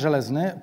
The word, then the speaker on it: Zelezny: It's like Żelazny, and this is the pronunciation.